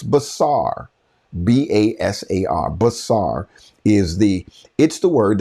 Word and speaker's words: basar: Hebrew word for it, check me if it's basar. B-A-S-A-R. Basar is the word that is used in Isaiah. I believe it is chapter 61. How beautiful on the mountain are the feet of them who bring basar.